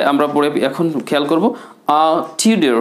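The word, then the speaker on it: Tudor: টিউডার হু টুডেড আ flute. এখানে টিউডারটাকে বলবেন টিউডা।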